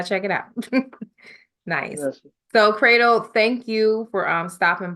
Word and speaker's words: Credle: pretty much find me everywhere at I am cradle uh I am cradle c r e dle e I know it's pronounced like a a but spell with a